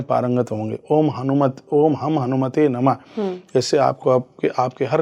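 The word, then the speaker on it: ओम हं हनुमते नमः: कर रहे हैं तो ओम हम हनुमते नम बहुत लोग इसको ओम हनु ओम हम हनुमत नम बोल देते हैं तो ये मिस्टेक हो जाती है गलत हो गलत हो जाता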